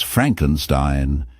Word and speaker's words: Frankenstein: He insists on pronouncing it as Frankenstein, emphasizing the last syllable with a distinct flare.